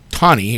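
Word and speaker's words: Taney: Sanford Chief Justice tani pronounced tani excuse me argued that if blacks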